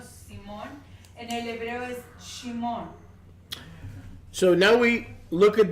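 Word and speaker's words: שמעון: Because of the rabbis, we tend to say Shimeon, but it's not Shimeon. It's Shimon.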